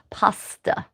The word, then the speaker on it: paste: The word the word paste in 15th century English or 14th century English would have actually been pronounced pasta, which I have for those of you who are pasta lovers will recognize as such.